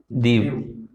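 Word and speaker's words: Diu: वाला ये क्या है दव ठीक है दीव बोलते हैं डी यडी य डी आई यू इसकी स्पेलिंग है और यहां तक गुजरात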